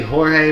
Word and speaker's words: Jorge: His name is technically Jorge, but we call him George because that's how it's spelled.